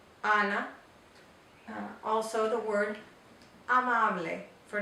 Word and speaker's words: Ana: In English it would be Anna, but in Spanish it's Ana.